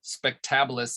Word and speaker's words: spectabilis: You can, so here's a spectabilis, using the second syllable rule, spectabilis.